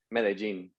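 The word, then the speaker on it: Medellín: Medellin.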